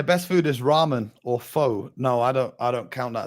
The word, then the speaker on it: pho: It's pho, not pho. That's how you pronounce it.